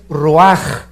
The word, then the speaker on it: ruach: es nepe y la palabra espíritu es ruaj se escribe ruach entonces vemos aquí dos